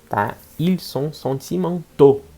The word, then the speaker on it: sentimentaux: Ils sont sentimentaux. Muda a pronúncia.